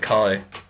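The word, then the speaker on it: χ: One thing to point out that as it is called Kingdom Hearts Key, but some people actually pronounce it Kai, but the meaning's still the same.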